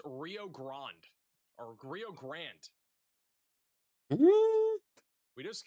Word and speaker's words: Rio Grande: For the $10 super chat, pronounced Rio Grande or Rio Grande. It's pronounced Rio Grande or Rio Grande.